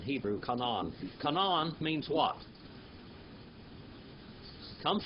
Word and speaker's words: Canaan: come on it's not we kind of mess it up in English it's come on come on can you say come on that's how you say it in Hebrew come on come on means what